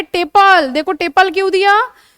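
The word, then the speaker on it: tepal: ऐसे स्ट्रक्चर को बोला जाता है टेपल। देखो टेपल क्यों दिया? टेपल, पेटल का थोड़ा सा प्रोनाउंसिएशन टिप और पल, ठीक है, दोनों में ही पल है।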